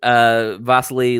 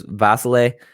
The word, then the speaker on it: Vasiliy: But Lopez did say he's speaking on beating Vasily Lomachenko and people. That's what he said, Vasily? He has 2, like his first name is pronounced 2 different ways. There's Vasily and then there's Vasil.